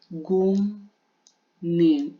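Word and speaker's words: 국립: Kaya yung bigkas niya is gungnip. Ay, gungnip pala, gungnip. Ay, sorry. Gungnip pala. Gungnip yung bigkas niya, gungnip.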